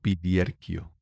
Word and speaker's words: Viglierchio: Como Biliarquio. Claro, suena bien, pero como no se escribe así, nadie lo sabe pronunciar cuando lo lee.